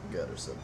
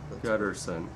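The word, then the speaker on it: Guterson: Gutterson. Gutterson.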